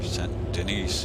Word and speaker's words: Saint Denis: biggest city they have, Saint Denis or Saint Denis, if you want to say it correctly, because it's supposed to be like the French Quarter in Louisiana.